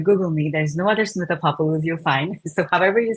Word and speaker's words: Smitha Papolu: and be able to have a conversation with Smitha Papolu. Is that the right way to say that, Smitha? Yes. All right, so but that's good. Papolu.